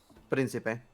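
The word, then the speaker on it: príncipe: Principe.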